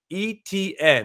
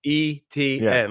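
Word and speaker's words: Etienne: uh he he today I always butcher his name BTN etn that's how you're supposed to pronounce it e-t-n like the three letters yes etn um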